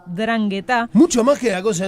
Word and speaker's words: 'Ndrangheta: Sí, lleva una N al principio, pero no se pronuncia, es 'Ndrangheta.